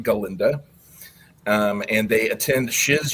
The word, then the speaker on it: Galinda: And in the movie, it's or in the Broadway show, it's pronounced Galinda.